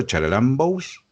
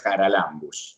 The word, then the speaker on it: Charalambous: ¿Está bien pronunciado el apellido Charalambous? Sí, sí. Ajá. Acá en Argentina es así. En griego sería Haralambous, porque es un Ah, diptongo, pero no nos vamos a poner exquisitos. Vamos a pronunciarlo en español.